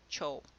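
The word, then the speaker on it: てふ: Cho was not written Chiyou, it was written Te Fu. When you pronounce these, when you're reading a text out loud, you pronounce it Cho.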